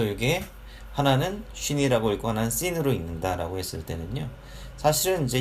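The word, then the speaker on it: שׂין: 이게 래쉬다라고 하는 것이고, 이거는 R 발음으로 표기를 하시면 되겠습니다. 그 다음에 이게 쉰, 신이라고 하는 두 글자인데요. 자, 쉰, 신.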